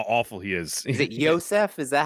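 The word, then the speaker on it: Iosef: yeah just how awful he is is it Yosef is that how you say it f yeah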